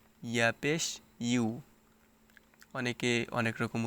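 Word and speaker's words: يُ: ইউ ইয়া পেশ ইউ ইংলিশে একটি লেটার আছে ইউ সেই ইউ এর মত এখানে উচ্চারণ করতে হবে ইয়া পেশ ইউ অনেকে অনেক রকম উচ্চারণ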